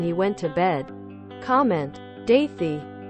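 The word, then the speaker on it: Dáithí: a front-runner when he went to bed comment daithy pronounced dahi it's Irish and very common here Ada the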